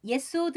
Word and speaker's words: Yesod: 히브리어 로 숫자 9 를 빠르게 발음 하면 예소드 (Yesod) 라고 하는데 , 이는 기초 또는 토대 를 의미 합니다 .